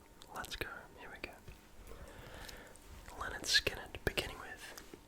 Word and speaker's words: Lynyrd Skynyrd: Leard skinn beginning with pronounced le skin released in 1973.